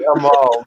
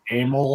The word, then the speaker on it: Amal: It was supposed to be Amal, but we kept mispronouncing it. It got said as Amel so many times.